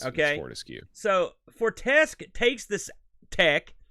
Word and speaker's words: Fortescue: Fortescue is how you say it. It's Fortescue.